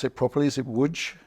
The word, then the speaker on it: Łódź: I don't know if I pronounce it properly. Is it Łódź? Łódź, yeah.